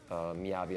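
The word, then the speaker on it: 雅: So the second Chinese character, it's pronounced Miyavi as well.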